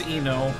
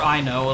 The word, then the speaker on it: Ino: independent my name is eno um I am not Ino hair I'm just Eno or I know like I mean you can pronounce it either way hey Einstein I'm on